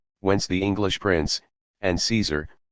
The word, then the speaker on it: Caesar: the English prince and Caesar pronounced kaisar in Latin and the source of